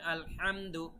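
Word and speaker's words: الحمد: সংশোধন করে দিব ইনশাআল্লাহ তো আলহামদু এখানে উচ্চারণটা বুঝতে পেরেছেন তো গলার ভেতর থেকে আপনাদের হা এর উচ্চারণ নিয়ে আসতে হবে আলহামদু আলহামদু এভাবে তারপরে রহমানির রাহিম এখানে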